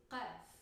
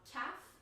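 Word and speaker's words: قاف: It's somewhere between a k sound and a g sound. It's like a calf, but very guttural, further down the throat. So it's qaf. It's not calf, it's qaf.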